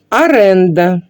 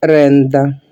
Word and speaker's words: оренда: буде сказати вирізати апендикс аренда неправильно в українській мові це слово і вимовляється і пишеться через букву о оренда на берегу річки неправильно